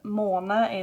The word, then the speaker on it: måne: måne is moon, and that A with a dot on is like when you say ball, maybe, that's the sound you want to make, and you want to pronounce the final E.